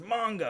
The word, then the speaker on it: manga: anime and stuff and i keep saying manga and he's like it's manga i'm like okay okay doesn't